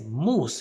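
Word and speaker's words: moose: dice alce en español Cómo se dice alce en inglés mus entonces la misma pronunciación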